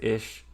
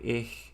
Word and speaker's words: ich: Like, I have seen some areas say that they pronounce it as ish, some areas say ich, some areas say ich, and like a varying degree of how harsh the sound is and how guttural it is and stuff.